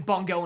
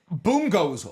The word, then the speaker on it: Bungo: on Bongo stray dogs I just alternate pronunciations between Bongo and Bongo boom goes wild I never doubled down on a pronunciation it is very much boom go I don't know I hear it's boom go get out of my that's what I've heard oh God isn't it